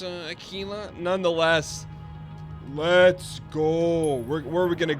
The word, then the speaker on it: Aquila: Oh, Dan, it's pronounced Aquila.